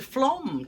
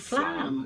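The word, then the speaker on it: Flåm: So, as the captain said, we're off to Flom tomorrow. We always thought it was called Flam. Yeah, but it's Flom. It's spelled F-L-A-M, but it's got one of them funny things on the top.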